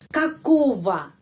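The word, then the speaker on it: какого: orang atau binatang bernyawa kakova kakova kita menulis ogo Di sini kakogo tetapi ogo itu eh bacanya Ova pada video 77 saya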